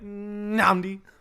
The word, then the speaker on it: Nami: no but like the the N actually technically is held in a way my name is pronounced Nami yeah and it sounds like I'm only saying one n but that's because you just start by going n and then say nambi nambi and it just sounds like you're hesit hesitating